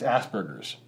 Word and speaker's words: Asperger's: Like you don't soften that G. It's Asperger's.